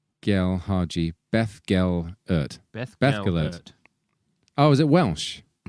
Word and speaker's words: Beth Gellert: Pronounce Beth. Hard. Fur. Gellert. Oh, gosh. Gel Haji. Beth Gel Ert. Beth Gellert.